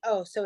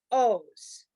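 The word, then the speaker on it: עֹז: a ruse O's bro O's so the iron is silent that is the O vowel the vowel with the dot on top takes the O so it's O's O's okay Adonai O's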